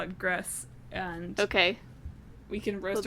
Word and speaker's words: Gris: Let's move on to GRIS. That's 100% wrong. This game, the game that we are talking about now, is Look, Gris. I'm just gonna call it Gris, and you're gonna call it Gris, and okay.